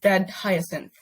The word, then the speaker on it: dead.hyacinth: to pronounce it really it's it's just like the the flower's name so it's dead hyacinth I said okay yeah okay okay I know we were going with like hygiene that sounds like a